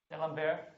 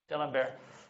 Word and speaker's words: D'Alembert: D'Alembert? D'Alembert.